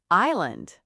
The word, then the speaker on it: island: Island.